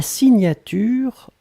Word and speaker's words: signature: Souvenez-vous, le GN, la prononciation, c'est gne, gne, gne, gne, gne. Signature.